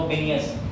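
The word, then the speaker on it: Vilnius: जा रहा है यहां लग रहा है बियस लेकिन एल साइलेंट है तो बनिय 11 से 12 जुलाई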